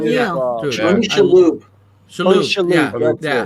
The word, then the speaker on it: Tony Shalhoub: Tony, was it Tony Schwab, right? Yeah, That That's is so his name? you. Yeah. Dude, Yeah. Tony Shalhoub.